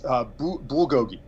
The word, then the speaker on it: bulgogi: that oh let me see if I can pronounce it right BA Gogi yes bulgogi okay you know I I'm not Korean but